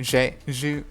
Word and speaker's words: jus: The jus sauce, which is, am I saying that right? Jus, it's jus sauce.